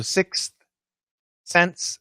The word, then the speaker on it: sixth sense: sense sixth sense yeah so naturally or quickly leandro piani get rid of the th um we shouldn't but we do so sixth sense sixth sense uh when we say